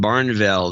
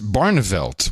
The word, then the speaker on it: Barneveld: jewel Susie brown and Barnesville the Wisconsin 200 should the pronunciation could be better but she's actually from Madison so that it's well it's Barneveld which is a fine Dutch name actually okay this is